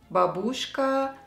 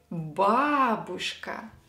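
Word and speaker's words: бабушка: who starts learning Russian know these words and pronounce them with incorrect stress dedushka babushka Boris DeVotchKa the correct way is de dooshka here yay is stressed the dooshka and Bob ooshka dooshka here is stressed by Rhys he is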